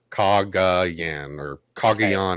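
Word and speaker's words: Cagayan: like talking like a cog c-a-g a-y-a-n okay kaga yan is how it's pronounced it's it's uh it's brain's beauty brawn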